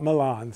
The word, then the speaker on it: Milan: the Duke of millon Shakespeare pronounces it millon not Milan so you don't get mixed up with your meter and his brother Antonio